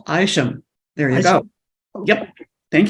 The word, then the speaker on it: Isham: job as Toastmaster uh last name is pronounced aisham there you go yep